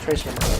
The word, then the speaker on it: Tres Hermanos: Tres Hermanos, because y'all pronounce the S.